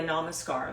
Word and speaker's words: namaskar: sun salutations it's called it's spelled in Sanskrit it's surria namaskar that's what you call it in yoga training so it's surria s u y a surria and then namaskar n a m a s k a